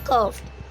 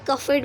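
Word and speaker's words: curved: Okay, आप इसे कफिड मत बोलना, क्योंकि कई बार ई की साउंड ज़्यादा आती नहीं है. कर्व, डा जो होता है लास्ट वाला डी, वो बिल्कुल थोड़ा सा प्रोनाउंस करते हैं हम इसमें, कर्व.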